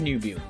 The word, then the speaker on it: 入部: I need to know if I'm saying it correctly. Nubu. It is Nubu.